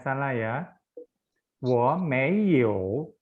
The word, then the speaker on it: 有: Wo mei you, you-nya juga harus ada ketiga.